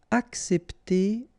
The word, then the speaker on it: accepter: Accepter de. All right? Accepter. So, in that case, you've got these two say, and then we tend to pronounce it accepter.